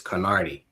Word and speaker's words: Knardi: My brand name is Carnardi.